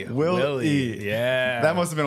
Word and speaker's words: Wille: Is it Will? How do you say your last name? Wille. Wille.